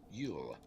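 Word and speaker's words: Luil: english cannot remove it it is yule l-u-i-l pronounced yule a jew why does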